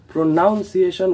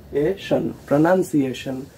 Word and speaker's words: pronunciation: একে অনেকে প্রোনাউন্সিয়েশন উচ্চারণ করে ফেলে, কিন্তু এর সঠিক উচ্চারণটি হলো প্রোনান্সিয়েশন।